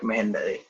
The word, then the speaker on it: Mehendale: and then there could be pronunciation spelling, may and the lay, and then there could be final sound output. That sounds like Mehendale.